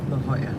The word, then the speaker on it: La Jolla: i'll drop you off it's going off it's pronounced la jolla it's right here thanks no problem hey